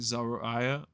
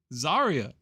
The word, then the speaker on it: Zaria: It ain't Zariah. Like Zariah, Zarya, Zarya, man.